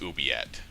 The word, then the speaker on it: oubliette: It's a French pronunciation, so it's oubliette.